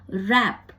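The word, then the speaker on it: wrap: कि word water और अगर डब्लू के बाद आर हो तो डब्लू भी साइलेंट हो जाता है डब्लू की आवाज भी नहीं सुनाई देती है जैसे कि रैप डब्लू आर ए पी रप पर आपको डब्लू जो है वो की आवाज नहीं सुनाई देगी आपको र की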